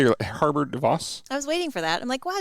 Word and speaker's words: Harbour de Vos: Harbour de Vos.